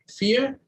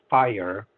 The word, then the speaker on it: FHIR: Yeah, so the FHIR, it's actually pronounced fire, is an attempt to bring some homogeneity in data formats.